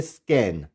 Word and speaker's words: scan: स्कैन। यहाँ पे सी silent नहीं होगा।